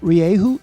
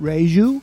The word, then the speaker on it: Rieju: Jeff says that even in Spain, they pronounce it differently in different regions. In some parts, they pronounce the soft J as in reju.